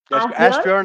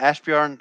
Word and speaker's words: Asbjørn: lot of energy yes ask yourself am i pronouncing your name correctly that's fine that's good ashburn is my name yeah ashburn that's good that's my name yeah it's a